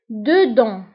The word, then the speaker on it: dedans: Dedans. Dedans. Dedans. فانتبهوا بالنسبة لدedans كنكتبوها بS في آخر الكلمة ولكن ما كنطقوهاش.